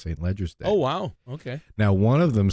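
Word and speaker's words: St Leger's Day: They said that's how it's pronounced, St. Ledger's Day. Oh, wow. Okay. Now, one of them said someone snooty would say it's called Salinger's Day.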